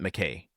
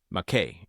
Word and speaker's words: Maquet: So Did I say Maquet? I meant Macquet. Is it Macquet or Maquet? Let me just get that answer for you all. Macquet. Yeah, okay. So I've generally been saying it right, just this episode I've been saying it wrong.